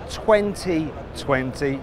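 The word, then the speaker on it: 20V20: one it's the sayat 2020 now it's written 20 v20 don't pronounce the V because it stands for vision which relates to the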